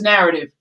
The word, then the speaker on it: Knarrative: the chat what is narrative well the k is silent like knowledge you're gonna know some